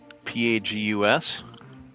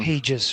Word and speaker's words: pagus: I may have the pronunciation of that wrong. p a g u s Yes. Yeah. Maybe like pages or something. No, it would be pagus.